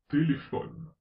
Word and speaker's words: téléphone: Quand la dernière syllabe est muette, comme dans téléphone, la syllabe ne est muette, on accentue la syllabe précédente, téléphone.